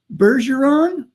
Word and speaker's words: Bergeron: guest today is Chris Bergeron. Right. Oh, yes. Okay. Normally I don't do too well with last names. Is it a hard G or a soft G? Definitely a soft G. It's French.